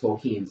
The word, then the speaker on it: Tolkien: Tolkien, sorry, I called it Tolkien my whole life, and realized when the movie came out that it's pronounced Tolkien, so there you go.